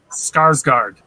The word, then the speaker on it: Skarsgård: Skarsgård.